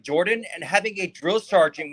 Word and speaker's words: Jordan: And the last name is actually pronounced Jordan. It's who? It's actually, my last name is actually pronounced Jordan. The O is, it's kind of like when you say word.